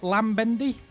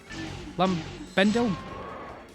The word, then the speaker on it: Lambendil: Is it Lambendy? Lambendel. There we go. I try and pronounce everyone's name if I can. Greetings and hello. I'm playing a bit of chill PSO. Lambendil. Ah, right. L on the end.